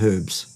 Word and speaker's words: herbs: on the front of herbs, because it's it is there. There is an H, and it should be pronounced.